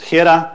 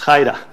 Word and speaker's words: Hiera: it wrong is that you say hi-de-hi not Hira it's not the era is hyda and this is said but they're the own developers of puppet so it's not me it's Haida okay so now that we know how to